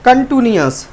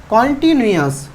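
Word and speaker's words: continuous: और कुछ बच्चे से क्या बोलने की कोशिश करते हैं? कंटिन्यूअस। कंटिन्यूअस इज the wrong pronunciation. Correct pronunciation कॉन्टिन्यूअस। इसे इम्परफेक्ट भी बोल सकते हैं।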